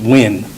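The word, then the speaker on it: Nguyen: and i'll spell that it's n g u y e n pronounced win he is 34 years old and has been with lvmpd since 2018.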